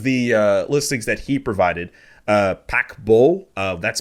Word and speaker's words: Paquebot: In terms of the listings that he provided, PODDABLE, that's spelled PAQUEBOT.